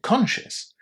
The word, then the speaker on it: conscious: group where delicious and conscious, both are spelled with io, o u s at the end, but we don't pronounce them with the full yes.